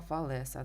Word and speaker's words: Фалеса: лінія трикутника зверніть увагу теорема Фалеса да наголос на літеру е Фалес мілецький отже давайте